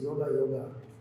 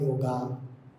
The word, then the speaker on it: yoga: Kaivalya means, the place where we do yoga, Swamiji. Kaivalya Dham Yoga Institute it is, yoga. First of all, it is not yoga, it is yoga.